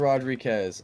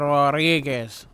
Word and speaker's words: Rodriguez: di all right Mr Rodriquez uh that's how I pronounce your last name correct you're already mispronouncing it Mr Rodriguez Rodriguez okay all right so uh